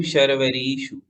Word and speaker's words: शर्वरीषु: किम शर्वरीषु, ये शर्वरीषु में री दीर्घ है तो इसको दीर्घ पढ़ेंगे। शर्वरीषु और शर्वरीषु देखो अंतर पड़ता है ह्रस्व और दीर्घ मात्रा में। यदि हम री को ह्रस्व पढ़ेंगे तो शर्वरीषु, और यदि दीर्घ है जैसे कि इसमें दीर्घ है तो शर्वरीषु।